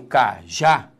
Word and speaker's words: cajá: descobrir a sílaba tônica quando eu falo cajá repare que a sílaba tônica é a última isso nos dá uma